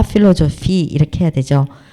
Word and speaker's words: philosophie: 빼아쉬는 그냥 F로 발음하면 돼요. 프랑스어에서 이 아쉬는 뭐 있으나 마나라 그랬잖아요. 그러니까 그냥 그리고 또 근데 빼하고 같이 쓸 때 이거는 또 이제 F로 같이 발음이 나요.